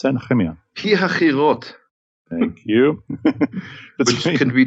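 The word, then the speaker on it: Pi-hahiroth: Now, how do I pronounce that, Nehemia? Pihachirot.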